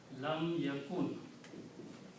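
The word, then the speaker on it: لم يكن: So this word will become ya kun. Lam yakun. Lam yakun, that's the word in the Quran.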